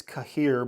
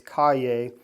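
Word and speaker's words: Cahier: They're called ca cay is how you say it but it it looks like it's cahir but it's cay and uh they are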